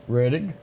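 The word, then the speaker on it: Rettig: As we go back to remember, Tommy, do you pronounce that Reddig? Reddig.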